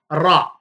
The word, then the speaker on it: ر: அந்த வகையிலே இப்பொழுது நாங்கள் இன்று பார்க்க இருக்கின்ற எழுத்து ரா. இந்த ரா என்ற எழுத்தை பொறுத்தவரையிலே இதனுடைய உச்சரிப்பு வல்லினமாகத்தான் அடிப்படையில் இருக்கும். ரா என்று சற்று கடினமாக உச்சரிக்க வேண்டும்.